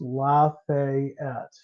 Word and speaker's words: Lafayette: ring gold last week and Lafayette is pronounced lafette so how is Tera